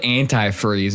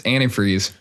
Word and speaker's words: antifreeze: He's like why do you call it antireeze? It's antifreeze. I'm like what? He's like, "It's not antireeze."